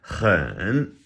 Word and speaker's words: 很: That H has a little bit of that in it. And it's a third tone, so let's exaggerate it. Hen.